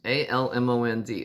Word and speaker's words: almond: of what i called almond groves a-l-m-o-n-d almond well they pronounced it the growers pronounced it almond and the other thing